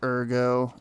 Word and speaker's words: Ergo: holding on to that Ergo until I get a ton of it or Ergo I keep calling it Ergo it's ergo that's how they pronounce it wow really can't